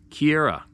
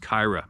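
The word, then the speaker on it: Keira: escarpment for cyclists is Mount Kiera Road pronounced Kyra Mount Cairo Road a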